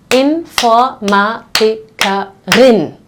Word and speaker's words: Informatikerin: So here the syllables actually change. I will say Informatikerin. That makes the last syllable start with the R, okay? And the R is followed by a vowel. So here you actually have to pronounce the R.